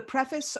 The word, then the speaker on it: preface: Or the preface or the forward.